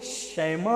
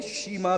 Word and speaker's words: شیما: ہاں، ان کو لوگوں نے شیما بھی کہا ہے. دونوں تلفظ ہے، شیما بھی اور شیما بھی. شیما آسان ہوگا آپ کے لیے بھی میرے لیے بھی.